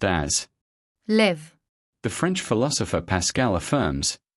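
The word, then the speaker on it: לב: The Greek word pronounced as Κардία is the translation of a Hebrew word found in the Old Testament pronounced as LEV.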